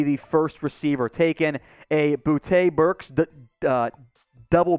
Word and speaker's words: Boutte: k sean boute and man i wish he would pronounce his name booty but it's fine i guess in the end dynamic player who could absolutely be the first receiver taken a bootay berks double b combo